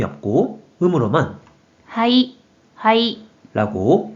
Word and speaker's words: 肺: 먼저 뜻으로는 발음이 없고 음으로만 はい、 라고 발음해줘요.